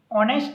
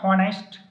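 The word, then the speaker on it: honest: ये देख लेना यहाँ पे एच साइलेंट है, ठीक है। ऑनेस्ट मैन, नॉट हॉनेस्ट। हॉनेस्ट is wrong word, ऑनेस्ट मैन।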